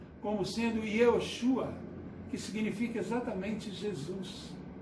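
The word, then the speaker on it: יהושע: Em hebraico, né, esse nome se pronuncia como sendo Yehoshua, que significa exatamente Jesus.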